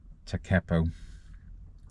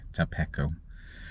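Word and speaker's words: Tekapo: Rakaya Gorge, that's where I am now, and I came from Lake Takepo, not Lake Tapeco.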